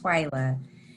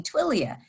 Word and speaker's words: Twyla: Yes, Melissa, thank you. It's pronounced Twyla. You know, when you see the spelling, I have a unique spelling of my name too, and sometimes people confuse it and call me Twilia.